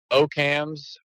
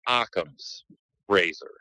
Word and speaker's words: Occam's razor: are very limited here I used to say Oh cams or how that's basically how I pronounced it but I was told numerous times it's pronounced Occam's razor so that's why we